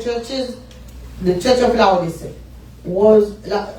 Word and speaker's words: Laodicea: Among all the 7 churches, the Church of Laodicea was, how do you say it?